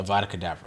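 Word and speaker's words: Avada Kedavra: spell I need which is how do you pronounce it uh the Avada cadaver yes thank you um is the level 28 and I'm like level 27 I just turned level 27.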